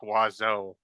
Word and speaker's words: oiseau: for bird is pronounced oiseau, and it's not spelled anything like you would expect oiseau to be spelled like.